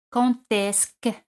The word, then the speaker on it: quand est-ce que: Al añadir esc, D se pronuncia T. Quand est-ce que.